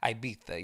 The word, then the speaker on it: Ibiza: Y'all don't be in Ibiza. Or wait, what is it? Ibiza. Ibiza. Ibiza. That's what I was told how it's pronounced. Ibiza.